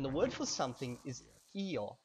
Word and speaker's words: io: And the word for something is io, io, and it's spelled I-O.